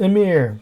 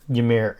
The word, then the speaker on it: Ymir: tips to playing yamir I know some people call it Emir but yamir is how we will pronounce it first off I like